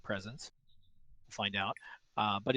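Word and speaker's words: Spresense: way to sony presence i think the pronunciation is presence like presence find out uh but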